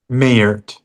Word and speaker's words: Mayert: How do you say it? Mayert or Myert? Mayert. Mayert.